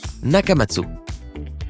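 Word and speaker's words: Nakamatsu: d'abord et avant tout tu dois bien prononcer son nom ça se dit naka matsot il a juste décidé d'arrêter de l'écrire avec ce une finale parce que eh bien pourquoi pas malgré le changement d'orthographe ça se prononce toujours nakama dessous par contre si tu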